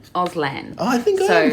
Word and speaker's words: Auslan: now I'm probably pronouncing it wrong, so it's Auslan? Auslan. Oh, I think I am pronouncing it right.